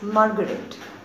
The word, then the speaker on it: Marguerite: r i t e this is the spelling but the pronunciation is margaret so mrs flowers told author's grandma that i will take margaret with me because i